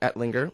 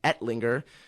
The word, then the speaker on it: Ettlinger: And my name is Ettlinger, which is, and my last name is Ettlinger, kind of hard to pronounce, Ettlinger.